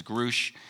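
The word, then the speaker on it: David Grusch: to pronounce his name I didn't know if it was grush or grou but Danny called me he said it was Grouch uh Danny shean knows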